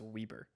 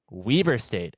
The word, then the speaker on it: Weber State: their series I got a note apparently it's pronounced Weber Weber State okay yeah I know I did not expect